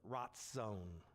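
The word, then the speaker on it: רצון: Now, when I pronounce it, you probably don't hear a difference, do you? There is a difference. So the first one is razon, the next one is ratzon.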